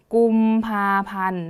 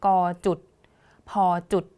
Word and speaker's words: กุมภาพันธ์: คือ กลุ่ม ผ้า พัน กุมภาพันธ์ นะ คะ คำ อ่าน ของ เขา ก็ จะ ตาม นี้ เลย ค่ะ ตาม คำ เต็ม นะ คะ จะ ไม่ อ่าน ว่า ก จุด พ จุด เด็ด ขาด นะ คะ ต่อ ไป